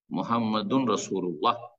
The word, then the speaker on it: মুহাম্মাদুর রাসুলুল্লাহ: রাসুলুল্লাহ মুহাম্মাদুর রাসুলুল্লাহ নাই মুহাম্মাদুর রাসূল আল্লাহ যে পড়লেন এটা ভুল উচ্চারণ মুহাম্মাদুন রাসুলুল্লাহ যদি শুদ্ধ পড়তে চান কিন্তু এখানে রোগীকে অমূর্ষ